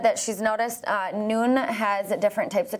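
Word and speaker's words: Nuun: on our Instagram noon and you UN it's pronounced noon but it's n you UN it's an electrolyte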